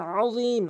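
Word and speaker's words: العظيم: এখানে আযীম আইনের উচ্চারণ করতে হবে এবং জর উচ্চারণ হিসাবে এক আলিফ টানতে হবে এবং ওয়াকফ করলে 3 আলিফ টানতে হবে।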